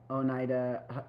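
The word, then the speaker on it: Oneida: A boy in a shopping cart says, "I'm Onida."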